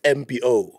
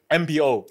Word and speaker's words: Mbo: video how's that wrong no it's it's MBO MBO yeah yeah but okay say